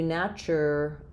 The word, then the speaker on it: naturalized: is unimportant um naturalized we just tend to take this schwah make it a little bit longer part of this syllable and then we have letter e says makes the i say its name just like in light naturalized and then if I'm